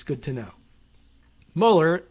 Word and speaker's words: Mueller: But Karen Mueller, maybe Mueller, I don't know if she pronounces it that way, but spelled the same way as Robert.